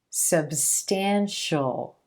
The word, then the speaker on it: substantial: When the sound right before the suffix is the sh, sh sound, then you're going to pronounce the suffix as just the dark L, as just a single syllable. Ol, shul, shul, official, substantial, special.